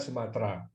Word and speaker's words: Sumatera: Untuk menyesuaikan dengan bahasa Melayu, bahasa Indonesia adalah bahasa Melayu, tidak ada huruf T dan R yang nyambung, ya, harus diisi E di tengahnya, sehingga menulisnya adalah Sumatera, walaupun bacanya Sumatera.